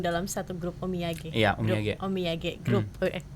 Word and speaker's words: Omiyage: Iya, Omiyage Group. Beda ya pelafalannya. Omiyage itu artinya oleh-oleh. Oh gitu. Jadi kita namanya grup oleh-oleh gitu. Bahasa Jepang. Omiyage Group.